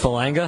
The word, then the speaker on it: Falanga: Did I say your last name right? No, it's pronounced Falanga. Falanga. See, I can't even read my own writing. That's the problem. Yeah. Falanga. You're not the only one. A lot of people do that. God, I'm going to write that down like that with a hard G.